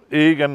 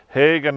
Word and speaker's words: Egan: grave here of Larry Egan, here in Ballycarrog. Can you tell me the story behind this particular headstone here? Larry was Larry Egan, or Hagen, as sometimes you might hear his name is pronounced, and he was a journeyman farm labourer, really.